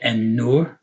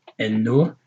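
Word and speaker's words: النور: These are all the letters that when you pronounce them with an al in front of them, you pronounce the letter twice. You don't say al.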